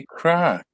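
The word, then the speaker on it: craic: Irish word guys so we just say like the like the term crack like crack your knuckles or something like that yeah the pronunciation is definitely stunning so if someone says any crack to you it's like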